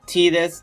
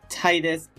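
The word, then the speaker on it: Tidus: the actual name of the character which is pronounced t-this not Titus growing up by pronounce to Titus but I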